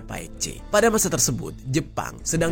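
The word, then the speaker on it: Baekje: Nah, tulisannya itu Baike J gitu ya, bacanya Paik C.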